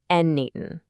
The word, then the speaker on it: n8n: First off, it's pronounced Natan and it's what's called a lowode automation tool.